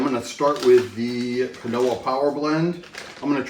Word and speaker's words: quinoa: Uh, and we'll also be doing a canoa spinach blend. And for anyone out there who insists on telling me that's pronounced quinoa, put it in the comments below.